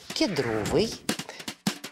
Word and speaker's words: кедровой: не обратил внимание что ты сделала ударение на первый слог в прилагательном от слова Кедр но время идёт русский язык стремится к упрощению И вот так со временем литературной нормой стала кедровой Кедровые Кедровая запомнила не сложно что вы